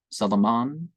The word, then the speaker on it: Salaman: Now, there isn't a biblical name with a V or J sound, so, The accented vowels are to be pronounced long, as in Italian, Salaman, Absal, Shirin, etc.